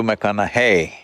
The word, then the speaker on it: McConaughey: the second name uh mcconnell hey rhymes with what would madonna say so so i know you're matthew mcconaughey but do i know